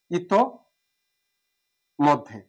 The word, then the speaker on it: ইতোমধ্যে: এখন ইত্ত, ইতিযোগ মধ্যে, ইতিযোগ মধ্যে, এটা সঠিক উচ্চারণ কি হবে, ইত মধ্যে, ইতোমধ্যে।